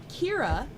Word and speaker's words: Ciara: It says, "Can you tell my sister Kira happy birthday?" Yes! If that name is not pronounced Kira, Google lied to me.